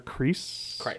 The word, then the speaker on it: Kreis: You know, everybody always gets it wrong, so it's funny because some people say Chris, and I'm like, there's an E in there. It's a silent E.